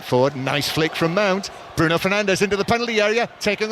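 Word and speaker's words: Bruno Fernandes: through for for Bruno Fernandez or Brun Fernanch as he calls him when they they show us the correct pronunciations.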